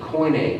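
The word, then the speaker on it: koine: literature Aristotle but rather it was called coining Greek which means a common great let me spell it I should have made a slide k-o-i-n-e coin a Greek it means common Greek but really what it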